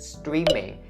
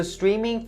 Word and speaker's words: streaming: is upon the word streaming. So streaming, for its first syllable, there's the long E sound, so you say streaming, you don't say streaming, okay?